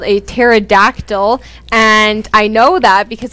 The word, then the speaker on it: pterodactyl: one is called a pterodactyl and i know that because it has a weird spelling it's actually spelled with a p it's p t right silent and cole what do